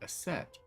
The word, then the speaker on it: Isis: Horus's mom is named Isis, but ancient Egypt, it's pronounced closer to Aset or Aset.